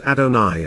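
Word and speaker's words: Adonai: Hebrew word to convey sacredness furthermore adona is pronounced adoni and is translated as my Lord and neither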